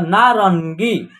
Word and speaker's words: नारंगी: आ की मात्रा ना, र के ऊपर क्या रहेगा, एक बिंदी रहेगा, यहाँ इसका उच्चारण आधा न के रूप में होगा, ना रन, आगे ना का उच्चारण होगा। उसके बाद र के बाद जो है ना अन की मात्रा का उच्चारण होगा, नारन। उसके बाद ग में जो है बड़ी ई की मात्रा का प्रयोग होगा इसे, तो नारंगी।